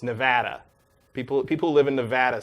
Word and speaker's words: Nevada: I know Nevada is how you pronounce it in the language, but people who live in Nevada say Nevada. Right, Nevada.